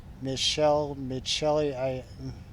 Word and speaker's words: Michelli: It's pronounced Mitch Lee.